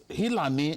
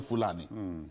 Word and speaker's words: Fulani: That is, Hilani is the corrupt version of pronouncing Fulani.